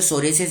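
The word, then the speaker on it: psoriasis: देखो ये जो सोरियासिस है ना, इसमें पी साइलेंट है।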